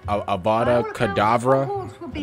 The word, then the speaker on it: Avada Kedavra: I think it's called Avada Kedavra. That's how you pronounce it, but, you know, I just put my own twist on things, you know?